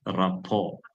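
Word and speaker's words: rapport: If that rao r a p o r t it is written rapot but actually you should pronounce it as rao rao ra.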